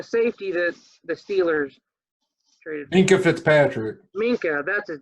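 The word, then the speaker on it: Minkah Fitzpatrick: Minka Fitzpatrick. Minka, that's his name. I was saying Fink. Minka Fitzpatrick.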